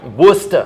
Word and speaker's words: Worcester: Woos- Wooster. Wooster. Wooster. Welcome to Wooster. It It's spelled Worcester, but it's Wooster.